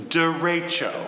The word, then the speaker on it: derecho: No, I'm 1/16 Cartagenan on my mother's side, and the correct pronunciation is derecho. Derecho. Da as in duh, Ray as in Rachel, and Cho as in Margaret or John, or as they said